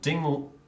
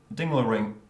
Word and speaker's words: Ding: Carana F Navara tomaseski ding dinging or dingin as people who now who still mispronounce his name Colin pav ianov